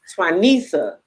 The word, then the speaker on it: Twanica: Um so like I'm gonna say your name wrong again. It's okay. Tuanisa. Tuanisa.